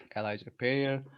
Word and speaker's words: Elija Perrier: Hello everyone, this is our QTalk with Elija Perrier. Did I pronounce it correctly?